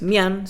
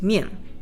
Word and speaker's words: mian: Por ejemplo, I-A-N se dice I-E-N. Esto no es mian, sino que es mien.